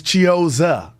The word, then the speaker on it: Chiozza: I really thought I was pronouncing it right, but it's Chiozza.